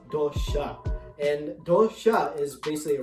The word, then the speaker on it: dosa: onion rava basala but the correct pronunciation is dosha and dosha is basically